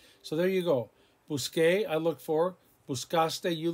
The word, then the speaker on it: busqué: So we have to change the C to a Q-U to maintain that hard C sound.